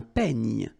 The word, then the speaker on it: peigne: Then un peigne. Final E, you don't insist on it. It's ny, the last sound.